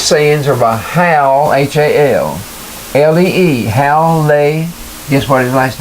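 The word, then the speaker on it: Hallee: Now some of these sayings are by Hal, H-A-L-L-E-E, Hal Lay.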